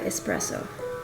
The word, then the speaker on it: espresso: as my coffee I am pupset espresso sorry espresso not espresso I always pronounce the X old habits die also the